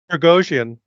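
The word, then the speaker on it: Пригожин: Is it Prigozhin, or am I thinking of like how to pronounce his name wrong? Prigozhin.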